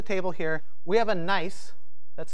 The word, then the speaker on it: gneiss: And on the end of the table here, we have a gneiss that's spelled G-N-E-I-S-S.